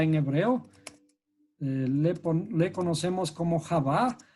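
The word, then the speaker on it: חוה: Y en hebreo, Eva se escribe como Javá.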